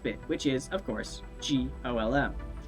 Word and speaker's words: GOLM: He has to be referred to by the last bit, which is, of course, GOLM. Much to his surprise, this ends up being pronounced like Golem anyway.